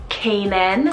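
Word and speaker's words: Kaynan: one means either strong or it means feather Kanan spell k-a-y-n-a-n Kanan I love the spelling for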